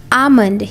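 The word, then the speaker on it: almond: आमंड, यहाँ पर L silent होता है, आमंड मतलब बादाम।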